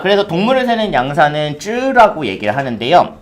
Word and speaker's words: 只: 쯔라고 얘기를 합니다. 발 달린 동물같이 생겼잖아요. 그쵸? 같이 한번 읽어볼게요. 쯔 발음 시작.